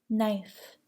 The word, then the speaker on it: knife: Do not pronounce the K in the following words: knack, need, knee, kneel, new, knife, night, knit, knob, knock, knot, know, knowledge, knuckle.